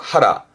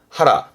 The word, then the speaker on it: 腹: 뜻으로 혼자 있으면 배를 의미할 거고 발음은 그렇죠. 하라. 하라.